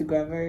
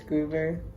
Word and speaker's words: Grover: so i've realized that i've been saying gruber's name wrong so i don't think it's grover it's groover which is sad because he's